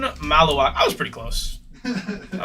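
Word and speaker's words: Khaman Maluach: Someone educate me on how to properly pronounce that. Kamoon Malawak. Kamoon Malawak.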